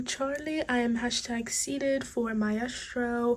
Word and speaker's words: Maestro: So first things first, I realized that I've been calling this movie wrong, so I just watched Maestro.